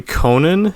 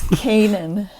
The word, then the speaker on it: Koehnen: that right no okay see it's kanan i mean it's about ken and you know but don't say it like that because you got to be dutch you say that you're right right so it is canaan just say kanan yeah that's totally correct